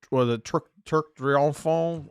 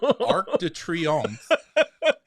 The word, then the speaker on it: Arc de Triomphe: They're not experiencing what will soon be the new year in front of the Turc Triomphant. How do you say that? Arc de Triomphe.